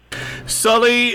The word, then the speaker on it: Salih: Salih Hudayar, and if you want to Google search his name, he's with the East Turkestan National Awakening Movement.